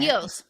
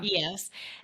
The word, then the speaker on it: Eos: I know that you call it is it EOS? How do you say it? EOS, yeah, EOS.